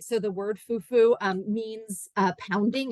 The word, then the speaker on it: fufu: in West African languages fuu the accent is on the U part um so there's a